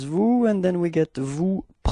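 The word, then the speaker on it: vous: it's okay and keep in mind that is pronounced like okay new repeat new yeah that's it second person it's Vu and then we get Vu repeat Vu okay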